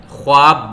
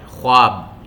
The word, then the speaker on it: خواب: بے تحریر کرتے ہیں۔ بظاہر اس لفظ کا تلفظ خواب بنتا ہے، خواب، لیکن اس لفظ میں واو کی آواز شامل نہیں، اسی لیے تحریر کرتے ہوئے تو واو لکھتے ہیں لیکن تلفظ کی ادائیگی خواب کی شکل میں ہوتی ہے، خواب۔ غور سے سنیے، خواب۔ انگریزی میں اس لفظ